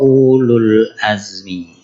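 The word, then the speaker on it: أولو العزم: shbaro Ulul Azmi nah Berartikan waunya tidak memanjangkan u secara tertulis wunya tidak dikasih sukun nah seandainya nih seandainya wauya ada sukunnya berarti membacanya Ulu jadi Ulul Azmi Ulul Ilmi Ulul Arham itu sama tuh Uya membacanya pendek Nah makanya ini apa namanya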